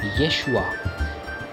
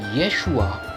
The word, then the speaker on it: Yeshua: In the Hebrew Bible, Jesus is called Yeshu or Yeshua, right? Yeshua of Nazareth. In fact, sometimes if you ask a Hebrew-speaking person to name Jesus, he will call him Yeshua. You see, Yeshua, and we've already been through how Greeks changed